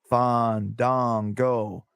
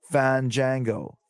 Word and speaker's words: Fandango: Fandango.